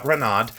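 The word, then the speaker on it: Reinad: on um oh um ranad um re e i let's make sure I spell it right it's ranad re e i n a d so yeah renad um very you know very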